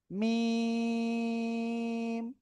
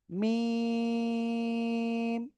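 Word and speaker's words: م: এই দুই ঠোটার বাইরের অংশ শুকন জায়গা থেকে অক্ষরটা উচ্চারণ হবে। ঠিক আছে? মিম চার আলিফ টান হবে। মিম সবাই একসাথে আনমিউট হয়ে জোরে জোরে বলেন তো সবাই সবাই আলহামদুলিল্লাহ।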